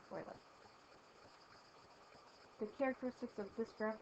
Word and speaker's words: Euler: Remember, it looks like Euler, but it's pronounced Euler.